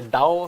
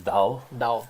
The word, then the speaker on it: Tao: Or as you say, Dao of Physics. How is that? Yeah, the Chinese pronunciation is, I think, is Dao.